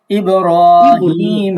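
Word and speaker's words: إِبْرَاهِيم: আলা ইব্রাহিম ওয়া না, আলি রতে মাদ আছে, ইব্রাহিম ইব্রাহিম।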